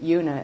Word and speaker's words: Una: Lots of people say Una, but I actually pronounce it Una as if it had a Y in front of it. Una, like unique.